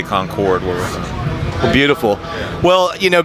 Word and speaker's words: Concord: Proper way to say it. We say Concord.